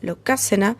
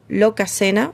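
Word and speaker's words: Lokasenna: que encontramos en la locácena. Sí, en el capítulo anterior le dije lo locaena, lo pronuncié mal, la entonación era loca, mis disculpas.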